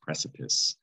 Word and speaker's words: precipice: We get that word from the French language, precipice, especially the C. That is definitely a soft C, sip, because it has an I after it. And that is not ice. This word does not rhyme with ice. It's precipice because of the French origin.